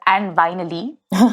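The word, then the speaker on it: And Vinyly: It's a tongue-in-cheek website called And Vinily, which is supposed to rhyme with And Finally, as a way to amuse himself.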